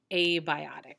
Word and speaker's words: abiotic: opposite of biotic is abiotic so this is pronounced the long a sound which means not so a biotic means